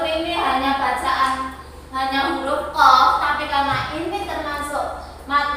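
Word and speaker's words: ق: Walaupun ini hanya bacaan hanya huruf qaf, tapi karena ini termasuk mad lazim, mad itu panjang, maka ya kita bacanya orang qaf gitu enggak, tapi dipanjangkan 6 harokat. Qaf ya, 6 harokat atau 6 ketukan.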